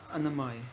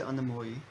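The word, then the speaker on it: annamaya: So the first one talking about, and I say Anamai. anamaya. How would you pronounce it? Well, in Bengali they'll say anamoi. Anamoi. They always round everything off. Okay. But anamai is fine.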